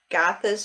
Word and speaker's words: Gathas: it's uh tignaton and it's called earth gothas gothas is spelled g-a-t-h-a-s and agatha is um you could